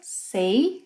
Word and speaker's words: sei: Eu sei, two sounds. Sei.